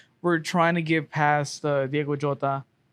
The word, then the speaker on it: Diogo Jota: I mean, we just got we're trying to get past Diogo Jota. Diogo Jota.